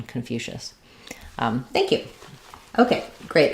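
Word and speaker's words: Confucius: the U so confu the letter c I say the sh sound and then um the o s just says awah confucious so that's uh the English pronunciation confucious um thank you okay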